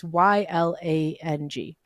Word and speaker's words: Ylang: I don't know how to pronounce that. Lang. It's Ylang.